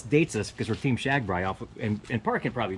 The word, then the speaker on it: Shagbrai: far, but you know, Shagbrai. So anybody who's familiar with Shagbrai. Mm-hmm. But yeah, okay, yeah. So Austin Powers, yeah. Yeah, it's just rhymes with RAGBRAI.